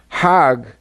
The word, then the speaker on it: Hajj: Now, Hajj is a pilgrim to Mecca. Hag is the Egyptian pronunciation.